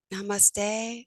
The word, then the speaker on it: namaste: It's something like namaste, or you got it.